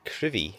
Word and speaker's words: Crovie: So we have made it to Crovie, or it's actually pronounced Crivie, is according to this.